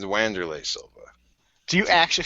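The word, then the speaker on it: Wanderlei: Weroom's name any other way than the way it's spelled cuz I'm from America. How do you say Vanderlay Silva's name? It's Wandererlay Silva. Do you actually say Wandererlay?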